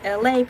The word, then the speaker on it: Elay: My name is Elay. Pronounced like LA, like the city.